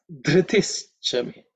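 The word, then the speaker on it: धृतिश्च मे: In terms of pronunciation, the first letter you have to pay attention to because it is the fourth letter in the tha varga. Okay, dhr, just the way dha. Okay, dharta, dhr.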